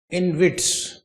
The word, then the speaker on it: InvIT: Now today's topic is in witz e n v i i n v i ts i infrastructure investment trust. Okay. But in short it is written as in which easy to pronounce.